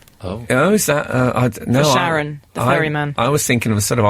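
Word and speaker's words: Charon: Sharon. CH, not SH.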